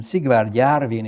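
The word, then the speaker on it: Sigvard Jarvin: um swedish origin and in english his name is usually pronounced it's sigma jarvin in french it's sigbir jarvan and siegward yarvin is i believe his name in swedish he was an attorney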